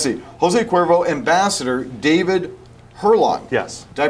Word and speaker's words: Hurlong: Jose Cuervo, ambassador, David Hurlong. Yes. Did I pronounce that correctly?